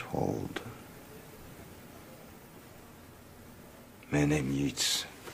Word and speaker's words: Yeats: Yeats. Pronouncing that right. In The Stand, the TV version, Ed Harris almost ruined the entire thing by pronouncing it Yeats.